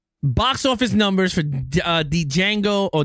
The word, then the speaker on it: Django: box office numbers for uh Django or Django because D is silent.